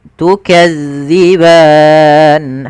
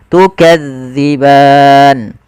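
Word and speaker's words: تكذبان: Za jangan dibaca dengan za, maka jangan baca tukadziban. Tapi kita bacanya tukadziban.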